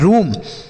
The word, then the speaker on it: room: ROOM, आर से रॉ, एम से म, और डबल ओ का उच्चारण बड़ा ओ की मात्रा, यह लिखा है रूम।